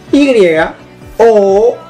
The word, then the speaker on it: you: Como pueden ver, se escribe de la siguiente manera. Y-O-U.